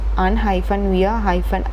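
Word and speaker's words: unweariedc: What means the Keats want you to pronounce the word with 4 syllables, un-wear-i-ed, and instead of 3.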